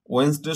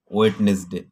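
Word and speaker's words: Wednesday: ওয়েনসডে শব্দের অর্থ হচ্ছে বুধবার। তো ওয়েনসডেকে হয়তো আমাদেরকে স্কুলে শিখিয়েছে ওয়েডনেসডে, তবে সঠিক উচ্চারণটি কিন্তু হলো ওয়েনসডে।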